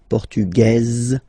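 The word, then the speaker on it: portugaise: don't pronounce the S feminine form portuges you pronounce this z sound okay and then ESP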